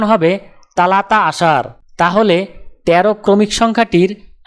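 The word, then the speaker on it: ثلاثة: আরবি ক্রমিক সংখ্যা 3 দেখতে এরকম, উচ্চারণ হবে তালাতা।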